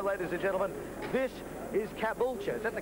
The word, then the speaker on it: Caboolture: This is Caboolture. Is that the correct pronunciation? Caboolture, home of Lakeside.